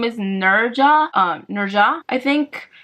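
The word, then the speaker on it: Nezha: so I called him Neza, but his name is not Neza. His name is Nurja. Nurja, I think, because the H is like a J sound, but in my head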